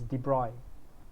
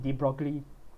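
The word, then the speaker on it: de Broglie: a french physicist and french so the french pronunciation is de bruyne right uh so i know a lot of people will call it deep broccoli but what is the de bruy formula so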